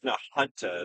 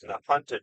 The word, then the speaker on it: Nahunta: We can pop, we get north to, no, I think it's Nahunta is how to pronounce that. Nahunta, Georgia.